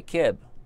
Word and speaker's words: Keb: This guy, Keb, rhymes with Jeb.